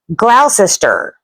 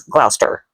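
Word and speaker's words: Gloucester: Words with long spellings are pronounced short. vowels and sounds are just not drawn out. Uh like this one right here. I look at this and I say glaus.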